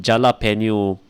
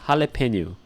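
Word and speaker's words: jalapeño: velar so yeah guys if we go to subway don't see you one gel a pen you pepper I will slap your face being a phonetics sort of phonetics it's jalapeno all right in that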